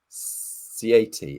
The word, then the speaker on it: Ziady: Ziady, is that correct? If I pronounce that correctly?